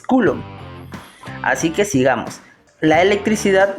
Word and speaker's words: coulomb: Hay muchas personas que pronuncian mal, pero el verdadero pronunciamiento es coulomb.